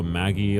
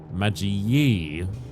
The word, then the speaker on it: Magi: Like, knew fully well how it's supposed to be, Magi. You know, if people go Maggie or whatever, or Magi, it's whatever, you know, it's fine.